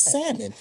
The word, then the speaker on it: salmon: salmon said teacher said no uh it's not salmon it's salmon he said why she said the L is solid he was like well